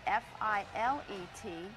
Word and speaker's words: filet: If you're speaking about meat cookery, the French word F-I-L-E-T, it's pronounced filet.